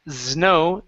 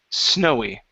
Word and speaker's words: snowy: word snowy okay so instead of saying znow snowy with a z sound it's an unvoiced S snowy snowy good so um